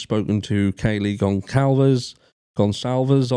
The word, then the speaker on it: Goncalves: to Kayleigh gong Calvers gonzalves I've been told that's pronounced he has spoken to